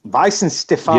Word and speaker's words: Weihenstephaner: And in German, it's Weihenstephaner. Yeah, Weihenstephaner. Yeah, there you go. That's the way. That's the way you say it. Weihenstephaner, no?